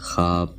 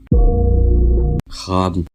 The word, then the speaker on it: خواب: معدولہ استعمال ہوتا ہے۔ ایسے لفظوں میں واو کا تلفظ پیش کا سا ہوتا ہے جو بعد میں آنے والے الف کے ساتھ ملا کر بولا جاتا ہے، جیسے خواب، خواجہ، خواہش، خار، خواہ،